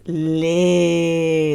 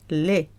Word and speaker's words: les: The, when there's more than one, plural, is les. That is a long sound. Les. We've had le, we've had la, and we've got les. A lot of people pronounced the le. Le. No. Les.